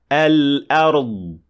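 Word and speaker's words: الأرض: And it should sound like this. Al-ard. Al-ard.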